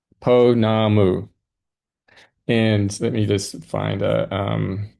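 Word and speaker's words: pounamu: Oh, uh, this is, uh, yes, uh, Ponamu. Ponamu.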